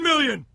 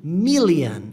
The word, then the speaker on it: million: 9 million. E o bilhão é billion. Percebe uma coisa? Eu não tô falando million, eu tô falando million. A pronúncia é como se fosse um E aqui, ó.